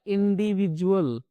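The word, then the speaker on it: individual: तीसरा कॉम्बिनेशन है हमारे पास आई डी यू तो इसको पढ़ा जाता है इंडिविजुअल। ठीक है? इन तीनों ही कॉम्बिनेशन में जो हमारा डी है वो ज की आवाज निकालता है।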